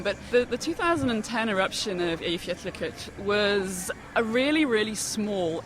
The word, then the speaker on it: Eyjafjallajökull: And it's pronounced Eyjafjallajökull.